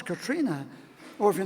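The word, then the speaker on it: Catriona: not Sten it's stra or if your name is katriona no it's not it's Katrina or if your name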